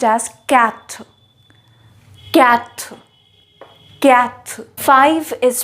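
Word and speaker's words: quatre: toa toa is that not easy four is pronounced as cat cat cat five is pronounced as sank sank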